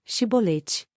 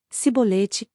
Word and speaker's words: chibolete: Se respondesse que não, diziam, então diga Chibolete. Se ele dissesse cibolete, sem conseguir pronunciar corretamente a palavra, prendiam-no e matavam-no no lugar de passagem do Jordão.